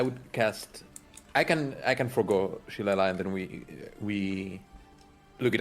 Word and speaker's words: shillelagh: So if I want to cast Silela or how it's pronounced? Shillelagh.